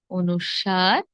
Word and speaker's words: অনুস্বার: কি হবে খন্ড ত এরপর অনুস্বার অনুস্বর কিংবা অনুস্বর নয় কি হবে অনুস্বার অনুস্বার এরপর বিসর্গ এরপর চন্দ্র